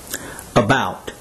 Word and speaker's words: about: Also notice that the first syllable is shown in all